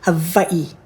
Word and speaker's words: Hawaii: lived in Hawaii for actually Hawaii is pronounced Hai from what year to